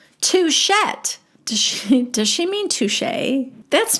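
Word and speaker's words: touché: T at the end like you know how some French words have a t at the end that you don't pronounce but touche is not one of them t o u c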